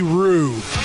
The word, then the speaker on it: Roode: or Smackdown well one you gotta say his name right it's Bobby Roode Bobby Roode yeah Bobby Bobby